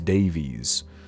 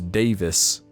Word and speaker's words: Davis: Miles Davis as miles Davies I teach music it's very much Miles Davis like Dave is not Davies be cultured and goon